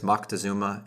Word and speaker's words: Moctezuma: to repeat, rendering it as Moctezuma and known to us in English as Montezuma. Like any great lie repeated often enough, it has come to embody a relative truth, and so any of these pronunciations are today acceptable.